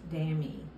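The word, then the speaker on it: Dameé: this jacket is called it's spelled d-a-m-e-e Inc is the brand and it's pronounced damn e and Danny is French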